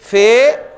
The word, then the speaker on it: ف: फे आएगा तो हम उसको फा बोलेंगे।